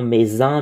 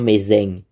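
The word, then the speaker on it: Mézenc: mont mzeng mzeng euh apparemment officiellement ça se prononcerait le mot Maisin mais je pense que avec l'accent local ça prononce le M meseng et euh le le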